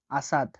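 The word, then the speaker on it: أسد: আলিফের উচ্চারণ আ এর মত হয়ে থাকে। উদাহরণ হচ্ছে আসাদ। আসাদ। আসাদ। আসাদ মানে সিংহ।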